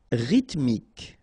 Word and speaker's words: rythmique: Rythmique, remember, Y pronounced like E and then H doesn't exist.